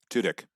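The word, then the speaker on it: Tudyk: Tudik. Tudik.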